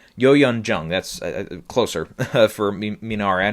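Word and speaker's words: Youn Yuh-jung: Yoo Jun Young or whatever here. Yo Yun Jung.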